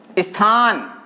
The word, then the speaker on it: स्थान: तो और उदाहरण ले सकते हैं ऐसे, जैसे आप बताइए मुझे ऐसा कौन सा हो सकता है, स्थान, यहां भी ई की ध्वनि का आभास हो रहा है।